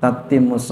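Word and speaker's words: تتم: alhamdulillahilladzi binikmatihi tatimus shihatu itu bukan tutimu salah itu enggak hemat saya enggak cocok ya ini kan ee pencetak yang barisin ya bukan ya Bukan nabi bukan pencetak ini hemat saya bacanya bukan tutimu kalau tutimu ini dia mutaadidi ya tamma yatimu lazim aja tatimus shihatu Iya watanzil barokatu Allahumma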